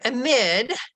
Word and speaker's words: amid: In the word amid, they may take that as a long A. Amid is a plausible pronunciation. It's a possible pronunciation, but they use the long A instead of the schwa.